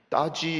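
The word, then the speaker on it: 大邱: 선택하는 것이 쉽지가 않습니다 대구를 중국 발음으로 어떻게 하는가 봤더니 따지 이렇게 부릅니다 이따 제로 오는 것이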